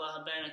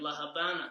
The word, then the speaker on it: La Habana: more Spanish spoken countries the V is pronounced as a b and that's why La Havana is actually more as you can say it La Habana Cuba La Habana Cuba